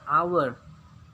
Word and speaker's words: hour: night ya menit Hai our our jam Nah jadi tulisannya hower tapi dibaca hour clock Hai jam dinding